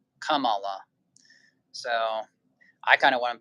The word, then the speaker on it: Kamala: flower is what it means and it's actually pronounced Kam Kamala Kamala so I kind of want to be like